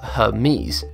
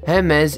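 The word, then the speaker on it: Hermès: Commonly mispronounced as Hermes, Hermes is a French fashion company which deals with extremely high-end commodities.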